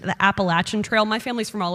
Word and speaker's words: Appalachian: Peggy, I was very proud of you because you said the Appalachian Trail. My family's from all over Appalachia, and that is how you properly pronounce that word.